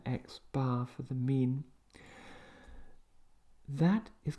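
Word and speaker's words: x̄: All right, so we pronounce that x bar for the mean.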